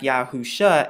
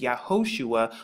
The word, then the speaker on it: Yahusha: talk more about the name of our Mashiach, Yahusha, and why I arrive at Yahusha. Now you can find more about this in Strong's H3091. Now, of course, the pronunciation that they're going to give you is Yahoshua, but we're going to find a little bit